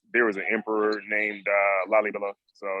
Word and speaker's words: Lalibela: Lalibela. Yeah, Lalibela.